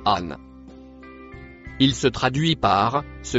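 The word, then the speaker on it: أن: Le mot écrit en violet se prononce an.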